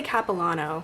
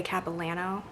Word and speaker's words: Capilano: So, and I always say Capilano, but the locals say Capilano, so I need to say Capilano.